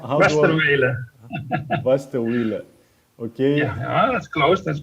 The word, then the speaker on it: Westerweele: Westerweele. Sometimes there are some names that is difficult for me to pronounce. Okay, It's a really Dutch name indeed. Yes, yes. How Westerweele. Westerweele.